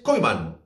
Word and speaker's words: Koeman: Y todo gracias a este hombre, Ronald Koeman, que por cierto se pronuncia en holandés Koeman.